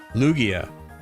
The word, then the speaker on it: Lugia: Like Lugia.